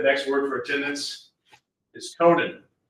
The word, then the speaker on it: Conan: Anyway, the next word for attendance is Conan, like Conan O'Brien.